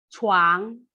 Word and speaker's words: 床: 床. 谢谢，很好，非常好 ya. Nada pronunciation sudah bagus. Cai, angin ya. Cai, tapi lidah saya datar. Cai. Tapi kalau 床 lidah saya diangkat.